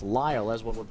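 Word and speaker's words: Lael: Lyle or Lyle and it is in fact pronounced Lyle as one would pronounce ly le but just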